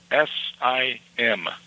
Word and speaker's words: sim: You won't you don't sound the M very much. You know, like a SIM, like a SIM card. Okay. You don't you don't sound a M. It's It's almost like a N, but you you don't really sign.